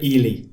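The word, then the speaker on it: Ehle: And I finally learned how to pronounce her name. It's Jennifer Ely. Okay. I also was Ale or Ale.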